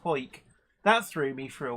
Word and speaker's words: Hawick: I know Hoik is written Howick, Hawick, but it's pronounced Hoik.